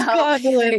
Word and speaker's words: Gondolin: So it's a hard G, not a soft G. It's Gondolin. It's Gondolin.